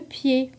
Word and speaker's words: pied: Des muets, comme dans le mot le pied.